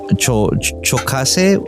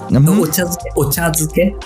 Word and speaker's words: ochazuke: I've only seen chokase. Is that how you pronounce it? Sorry? The chokase, is that how you pronounce it? Oh, the food? Ochazuke.